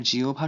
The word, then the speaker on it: জিহ্বা: এরপর হয় বয়ের জায়গায় ওপ যদি আ বা ও এর পরে থাকে তাহলে, অথবা উপ যদি ই বা উ এর পরে থাকে তাহলে লিখতে হয়। যেমন আহ্বান, এখানে আয়ের পরে হয় বয় সংযুক্ত আছে, এ কারণে হয়েছে ওপ। আবার জিহ্বা শব্দটিতে হয় বয় সংযুক্ত এর আগে আছে ই, এ কারণে উপ হয়েছে।